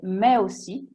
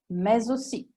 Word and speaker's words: mais aussi: Corrette entrambe le forme, ma anche si può dire mais aussi oppure mais aussi, che personalmente preferisco.